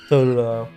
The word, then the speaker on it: Totodile: says, I like Squirtle and, how do you pronounce that? Totodile.